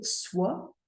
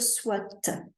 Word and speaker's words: soit: a soit adverbe alors cet adverbe on a tendance à prononcer le t on va pas vraiment dire soit on va dire soit comme s'il y avait un e à la fin soit c'est un adverbe